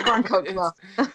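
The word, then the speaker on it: Grand Chokmah: I think we each pronounced it a different way. Grand Kokma. It's Grand Kokma.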